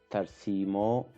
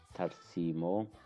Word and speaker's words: tarsimo: Tarsimo. Here the ra sound is semi-silent, so we don't need I or E over there. Tarsimo.